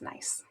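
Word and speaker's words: gneiss: the metamorphic rock called nice that's this one here it's pronounced nice so metamorphic grade refers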